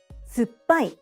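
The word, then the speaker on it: 酸っぱい: Suppai needs to be said in 4 syllables.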